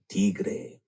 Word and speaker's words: Tigre: uh which is called Tre. And I'm saying it that way because A, it's Mexican, B, it's a world premiere. C it is spelled the correct way of T I G R E.